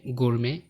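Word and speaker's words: gourmet: তোমরা একদম প্রথম কলামে দেখতে পাচ্ছ যে ফরাসি ভাষা হতে উৎপন্ন কিছু শব্দ যেমন বেলে, বুফে, শেলে, ক্রশে, গুরমে, ডিপো, ডিবার। এখানে প্রত্যেকটি শব্দের শেষের টি সাইলেন্ট।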